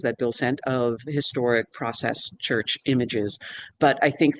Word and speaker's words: Process: thing that Bill said, it should be pronounced the English way, the process.